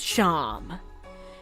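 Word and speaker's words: Seam: The name Sham, pronounced Sham.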